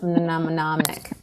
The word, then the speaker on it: mnemonic: I need a mnemonic for how to pronounce mnemonic. I think it's mnemonic. I think it's like a silent M.